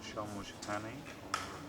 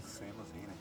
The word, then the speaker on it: Seamus Heaney: You were nominated together with U2 and Sinead O'Connor and Shamush, is that correct pronunciation? Shamush Haney? Seamus Heaney? Seamus Heaney.